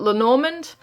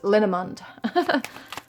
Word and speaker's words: Lenormand: I know some people call it Lenormand. I think the proper pronunciation is Lenormand. Comes from the French, I think.